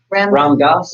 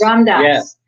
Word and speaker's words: Ram Dass: And it's, how do you pronounce his name? Ram Dass. Ram Dass.